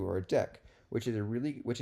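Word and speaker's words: deque: a double-ended or a deck okay so this is called this is a deck not a DQ a DQ would be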